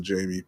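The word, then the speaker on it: Jammie: Jamie and forever just get rid of one of the M's. Your name says Jamie. I know you pronounce it Jamie, but it's ridiculous. I'll say Jamie.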